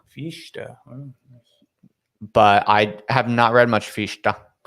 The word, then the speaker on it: Fichte: I've heard most people say Fichte. Fichte.